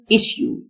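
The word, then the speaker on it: issue: ممتن جيتيت مستحيل قضيه ايشو الاس اس يو تنطق ش ايشو يصمت او صمت نقطه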